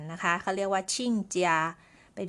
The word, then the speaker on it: 亲家: กัน ต่อ นะ คะ ชิ่งเจีย คำ นี้ ออก เสียง ชิ่ง นะ คะ ตัว อักษร นี้ อ่าน ได้ ทั้ง ชิ้น แล้ว ก็ ชิ่ง นะ คะ ใน ที่ นี้